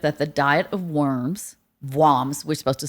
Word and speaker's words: Worms: Vams we're supposed to say vams.